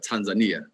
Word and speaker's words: Tanzania: Is it pronounced Tanzania or Tanzania? So talking to the nationals here, they have, of course, they have an accent that is particular to this area, and so they say Tanzania.